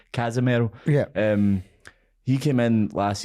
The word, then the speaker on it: Casemiro: And I think part of the problem is, obviously Casemiro came out. Oh, sorry, I'm pronouncing his name wrong because he's Brazilian, not Spanish. Casemiro.